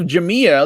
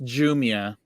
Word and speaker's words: Jumia: actually cover jamia today is that even how you pronounce it yeah it's why do we call it jamia it's jumia jumia we call it jamia because it's jamia that's like how it's spelled right here and we kind of